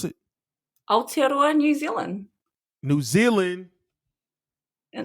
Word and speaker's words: Aotearoa: Say it again, how you pronounce it? Aotearoa, New Zealand.